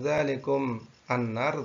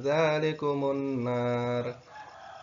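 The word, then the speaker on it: ذَلِكُمُ النَّارُ: Jika kita membacanya pada tanda wakaf itu kita kuat nafasnya, maka membacanya adalah tidak dzalikum annar, tetapi dzalikumun nar.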